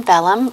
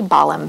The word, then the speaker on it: Bollum: here today with bellum am i pronouncing your last name correctly it's actually balham bottom only my mother-in-law